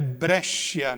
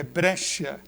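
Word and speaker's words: Brescia: esses 15 anos agora a pronúncia certo é brecha né Falei bre é brecha Então nós vamos ver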